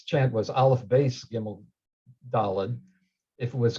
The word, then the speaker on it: Dalet: But anyway, Dalet is definitely correct with a T sound at the end, not a D sound, and it's clearly related to the word Dalet, which means door.